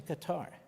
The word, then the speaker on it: Qatar: Q-A-T-A-R. I think they changed the pronunciation, but it's always Qatar to me.